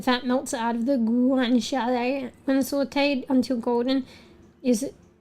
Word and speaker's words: guanciale: It's guanciale, Guanciale.